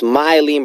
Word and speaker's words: Mylene: be like, my name's Mylene, by the way, spelled or pronounced my like my shirt, and lean like I lean to the right or lean to the left.